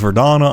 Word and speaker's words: Verdana: Yoink you, and it's pronounced Verdana. I don't care if it's a veranda. It's Verdana for life.